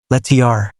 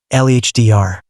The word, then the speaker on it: letter: When T comes between two vowels, Americans pronounce it like a D. Water. WHTR. WHDR. Better. BTTR. BHDR. Letter. LETR. LHDR.